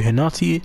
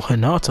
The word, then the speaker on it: Hinata: Alright guys, we're back into this, and we're talking to Hinata, or Hinata, oh my days. Anyway, I said her name wrong the first time, but yeah, let's see what she got for us.